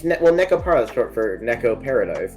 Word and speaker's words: Nekopara: It's I guess it's like the stress is wrong. It's like technically Nekopara, right?